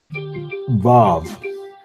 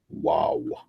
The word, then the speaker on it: Vav: Vav. The Vav makes the V sound. It is pronounced the same as the Vet.